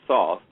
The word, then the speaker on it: Thoth: To spell that name. Is it Thoth? Are you saying Thoth?